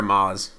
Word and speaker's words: Amaz: I think is it a Maze or a Maz? It's a Maz.